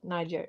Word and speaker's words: Niger: Niger, yeah, to get rid of the French and the Americans And the Swedes.